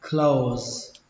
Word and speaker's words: close: Đóng đọc là close. Cũng tương tự những cái từ trên, nó kết thúc bằng âm giờ nhưng chúng ta có thể đọc là âm sở, close.